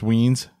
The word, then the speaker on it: Wines: Darren Wines, pronounced Weens, showed up, which was a lot of fun.